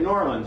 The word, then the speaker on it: New Orleans: They say it, New Orleans, right? Two syllables. Yeah, New Orleans. Two syllables.